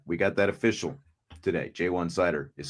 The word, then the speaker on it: Ja'Juan Seider: Ash as well as new running backs coach jwan cider and in case tommy guns is in the house he was asking for the official pronunciation it is jwan cider we got that official today jwan cider is how it said but we're gon to